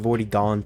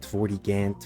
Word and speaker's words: Vortigaunt: I don't know really how you say it. Vortigaunt, Vortigant, Vortigaunt. Vortigaunt.